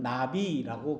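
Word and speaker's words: נביא: 그리고 히브리 말로는 나비라고 그렇게 이야기를 해요. 나비. 버터플라이가 아니고 발음이 그렇다는 거예요.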